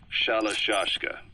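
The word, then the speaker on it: Shalashaska: known about that because somewhere along the line shoshka got stuck on the end of shiroshka the guerrillas were using the name amongst themselves by the time I got to hearing about it pronunciation had wound up as shalashka so half Gulag half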